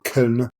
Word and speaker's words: Köln: A remarkable job with their symposium in Cologne or Köln, the way that it should be pronounced.